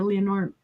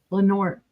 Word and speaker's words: Lenore: We'll get that for you, Leonore. Lenore. Sorry. I'm wanting to pronounce it Leonore.